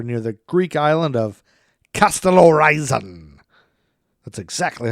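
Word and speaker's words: Kastellorizo: Falling 5 miles, the jet struck the water near the Greek island of Castellorizon.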